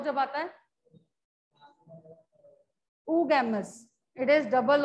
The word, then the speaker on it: oogamous: Oo term jab bhi aap padhenge double o is pronounced as oo.